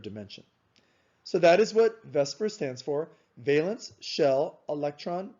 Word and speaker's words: VSEPR: most of the time we shorten it to vesper now if you look at the word vesper